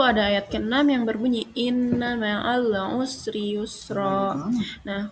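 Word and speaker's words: إِنَّ: Lalu ada ayat ke-6 yang berbunyi inna ma'al usri yusra. Nah, hukum kata inna, hukum tajwidnya itu gunnah. Nah, karena huruf nun bertasydid. Jadi, cara bacanya dengung dan ditahan 3 harokat.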